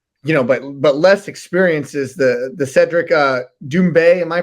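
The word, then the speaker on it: Cédric Doumbé: And we've talked about, headlining it, or the more known fighter, or but less experience, is the Cedric Doumbe. Am I pronouncing that correctly?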